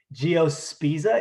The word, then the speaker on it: Geospiza: Geospiza, it's like pizza. Geospiza conerostris.